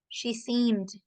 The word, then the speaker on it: seemed: She seemed. Suena como una D nomás, no suena la E.